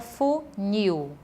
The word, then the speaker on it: funil: Por exemplo, a palavra funil. A sílaba tônica dessa palavra é o nil, por isso é uma palavra oxítona.